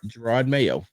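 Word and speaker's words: Jerod Mayo: here we go I was saying it right Gerard Mayo yeah I just wanted to make sure y'all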